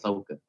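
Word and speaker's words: Sokha: It's like the H is silent because in my name they do like SOK sock and then the ha, and I'm like, the H is silent, so it's Soka, Yeah.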